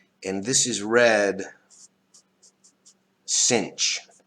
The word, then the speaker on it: sinh: The cinch of x is equal to this.